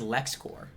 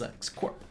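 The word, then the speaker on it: LexCorp: I'm just I'm just using the common pronunciation of Nobody ever says Lex Core. It's always Lex Corp. So why would you say Super Core?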